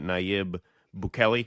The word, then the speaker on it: Bukele: empire, a lot of people look at these, some South American leaders like Javier Milei in Argentina, Nayib Bukele.